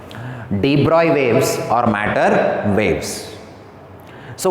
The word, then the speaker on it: de Broglie: Actually, we should not pronounce it as de Broglie. It is a de Broglie. De Broglie waves or matter waves.